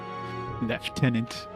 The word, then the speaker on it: lieutenant: These guys don't know how to pronounce lieutenant left tenant. So British.